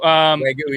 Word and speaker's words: Wagyu: Wagyu, yep.